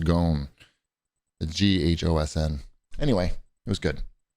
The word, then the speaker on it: Ghosn: the Escape of Carlos I think it's pronounced gone g-h-o-s-n anyway it was